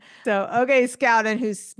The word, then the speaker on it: Scouten: and he's never corrected me I've been saying shoen so okay Scout and who's mispronounces your name oh name wrong oh that's